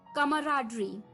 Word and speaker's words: camaraderie: तो चलिए, the eighth word for the evening is, well दोस्तों, ये थोड़ा सा प्रोनाउंसिएशन में थोड़ा सा अटपटा लग सकता है आपको, कमराडरी।